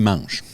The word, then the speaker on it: mangent: Ah, Ils prononcent le ENT Mangeant. à la fin du verbe.